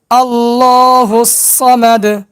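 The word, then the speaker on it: اللَّهُ الصَّمَدُ: এবার ভাঙ্গা ভাঙ্গা উচ্চারণ করব। আল ল হুস স মা দু আল ল হুস স মা দু আল ল হুস স মা দু এবার একসঙ্গে উচ্চারণ করব আল্লাহুস সামাদু।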